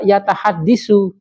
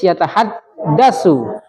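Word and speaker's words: يَتَحَدَّثُ: Kalau enggak dilancarkan tahada, bisa yatahaddisu, maka harus yatahaddasu. Nah, dalam pembiasaan untuk melancarkan supaya enggak terjadi ee kesalahan pelafalan. yatahaddusu boleh gak? Gak boleh yatahaddasu yatahaddasul mudaris anil akhlimah.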